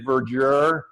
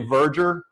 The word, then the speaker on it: verdure: And everyone mispronounces it, but it is, we sort of say verdure, but it's really verdure, V-E-R-D-U-R-E.